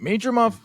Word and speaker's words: Madrimov: And you're probably wondering, wait, Madrimov? I'm going to get it right. Lampley was pretty pissed when I kept saying it wrong. It's Madrimov. Okay.